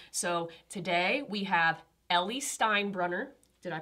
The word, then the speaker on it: Steinbrunner: So today we have Ellie Steinbrunner. Did I pronounce that correctly?